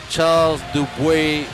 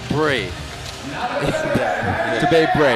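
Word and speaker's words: Charles Dubé-Brais: forgive me for sounding like a school teacher, but it's Charles Dub Bray. Dub Bray. Yeah. He's French Canadian.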